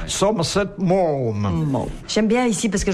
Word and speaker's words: Somerset Maugham: Puis on prononce, comme Castelli nous a enseigné à le faire, Somerset Maugham.